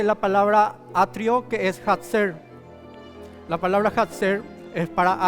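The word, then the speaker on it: חָצֵר: Que es hatzer. La palabra hatzer es para atrio, pero también se utiliza para decir apretar o oprimir. La misma palabra, hatzer, se pronuncia de esa forma, significa atrio.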